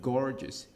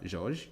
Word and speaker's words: gorgeous: Many clean and gorgeous. Gorgeous qui s'écrit G o R G e Ou S. Ce n'est pas George du tout.